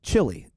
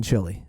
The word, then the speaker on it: Chile: We were walking in Chile, her and I, together. Okay? And she kept calling it Chile. And I started to think, how beautiful is that versus the way the Americans say it? Chile.